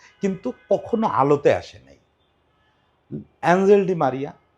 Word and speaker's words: Ángel Di María: কখনো আলোতে আসে নাই এঞ্জেল ডি মারিয়া আজকাল লোক কে স্প্যানিশ উর্জন উচ্চারণের সঙ্গে মিলায় বলে আনহেলডি মারিয়া আমি এঞ্জেল বলতে ভালোবাসি কারণ দেবদূত তো আসলেই আমার